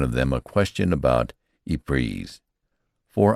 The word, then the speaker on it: Ypres: them a question about Ypres, for I pronounced the name French fashion, which put me under suspicion as a swanker. "Don't try to come it, son," he says. "Say wipers. That's what we calls it."